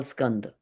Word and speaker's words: Skandha: How do you say it, Prabhat? Skand? No. Skanda, Skandha, skanda.